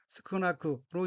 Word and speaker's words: 少なく: 셋째 줄 맨 오른쪽에 어휘는 한자가 적을 소자가 들어있고 일본어로는 스쿠나크로 읽으며 스쿠나크는 양이나 수요 등이 적다는 뜻인 형용사 스쿠나이의 쿠형으로 스쿠나크는 적어서 적어의 의미입니다.